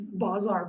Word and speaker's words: bazar: it in English bizarre but it's not like BIA are bizarre the idols are they are but it is Bazar pas and EE they